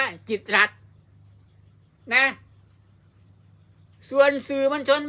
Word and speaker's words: กิตติ์รัฐ: ต้อง อ่าน ว่า จิตติรัตน์ แต่ ถ้า มี ธน ฆาต ตัว นี้ ตัว ติ เนี่ย จะ ถูก ฆ่า เสียง เมื่อ ถูก ฆ่า เสียง ก็ ต้อง อ่าน ว่า จิต รั ต้อง อ่าน ว่า จิต รัฐ นะ ส่วน สื่อ มล